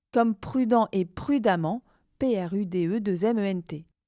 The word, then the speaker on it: prudemment: Lorsque l'adjectif s'achève par un en ENT, l'adverbe s'écrira amant, E-2-M-E-N-T, prononcer amant pour compliquer les choses, comme prudent et prudemment, P-R-U-D-E-2-M-E-N-T.